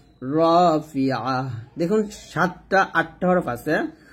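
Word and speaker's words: رافعة: এই 8টা হরফ যখন জবর দিয়ে পড়বেন তখন বাংলাতে আকারটা উচ্চারণ করবেন না। যেমন এখানে খা বলবেন না, বলবেন খ। ফির দ বলতে হবে, দা বলা যাবে না, রা বলা যাবে না, র বলতে হবে। এরকম 8টা হরফ যেখানে জবর দিয়ে উচ্চারণ করলে বাংলা আকারটা ব্যবহার করা যাবে না।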